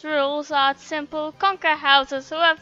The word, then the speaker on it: Rouxls: Rouxls, pronounced Rouxls, are simple.